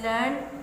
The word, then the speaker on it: learned: Learned, well educated, usually written as learned and pronounced with two syllables. Learned, here it is pronounced as one syllable to reflect an ordinary person's way to speaking.